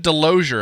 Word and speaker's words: Delozier: here well thank you well so i said delozier am i pronouncing your last name correctly yes sir you